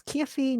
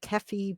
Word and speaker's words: Kephi: just kind of like my name is key not keffy but that's another thing